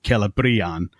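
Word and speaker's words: Celebrían: It's bri instead of brim. But because it's a long vowel, and that's what's indicated by the accent, then because it's the penultimate syllable, it takes the stress. So it is Celebrian with the emphasis on the bri.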